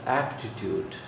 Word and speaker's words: aptitude: Then aptitude, aptitude. Aptitude, aptitude. This is the sound. Aptitude. And written as cha sound here, t, this one cha sound.